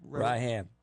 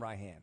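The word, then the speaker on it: Rahman: It's spelled Raham, but it's actually pronounced Raham. So Well, the first M is silent.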